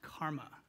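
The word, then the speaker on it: CCRMA: previous CCR MA and it's pronounced karma and this is really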